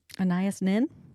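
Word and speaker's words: Anaïs Nin: Annias Nin.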